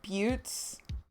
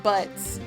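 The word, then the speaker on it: Butz: It's pronounced Buttes. Oh, Buttes, not Butts.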